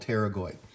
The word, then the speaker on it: pterygoid: i pick that is there is no other word that i can think of that begins with a silent p which is called pterygoid so these pterygoid processes